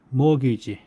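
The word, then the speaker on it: mortgage: 정치장에 정치학에 있어서라고 나와 있는데 뭐 하여튼 이게스트처럴 그럴 때 구조상위 조직 사항이 그다음에 그다음에 모기지 모기지 t가 거의 발음이 되지 않는데 모기지가 저당 융자 대출 가르쳐서 모기지라고 한다.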